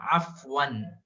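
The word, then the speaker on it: عفوا: इसको आप प्रोनाउंस करेंगे ऐसा, अफ़वन अफ़वन अफ़वन, आइन निकालते हुए।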